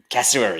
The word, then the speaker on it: cassowary: But there was a post that you put up on your socials not too long ago, and I always mispronounce the bird. Is it cassowary? Cassowary? Cassowary, The bird?